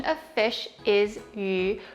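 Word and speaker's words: 鱼: The fish also represents prosperity because in Chinese, the pronunciation of fish is yu, which kind of sounds like the word surplus or abundance.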